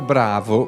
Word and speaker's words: Brawo: della famiglia ogni ti è rimasto bravo pronunciato all'italiana ma l'ottone non è